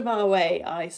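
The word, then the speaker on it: boatswain: first line is BOS it looks like Bose way now we pronounce it BOS and somebody comes on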